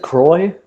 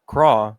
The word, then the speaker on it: Croix: seen little witch academia isn't it Croix yeah I'm I'm pretty sure I would say like craw in French it's like lacrosse yeah cool but in